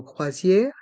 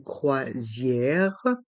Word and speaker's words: croisière: M gourmande gourmande une croisière dans le mot croisière les voyelles o et i se prononc C Zier le S entre les voyelles i o Zier donc il se prononce ze une croisière une balade gourmande une balade gourmande une croisière